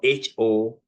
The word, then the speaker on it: honest: The second word is honest. Honest. You don't hear H.